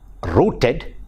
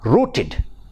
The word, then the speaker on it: rooted: It is not rooted but rooted. Id it is, rooted.